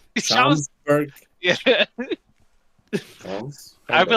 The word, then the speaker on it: Schaumburg: Schaumsburg. Schaumburg.